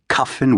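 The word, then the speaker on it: Kyffin: Cuffin Williams the painter rhymes with puffin.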